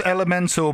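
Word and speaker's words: Element4l: Is it supposed to be Elemental, but it's just spelt with a 4L? It's Elemental, but they've gone fanforstic with the title. Fanforstic.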